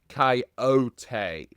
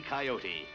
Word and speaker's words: Coyote: Coyote pronounces his name with surname as Coyote.